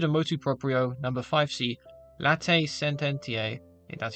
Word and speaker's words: Latae Sententiae: As stated in Motu Proprio, number 5c, Latae Sententiae, that's how you pronounce it, excommunication for schism concerns those who formally adhere to the said schismatic movement.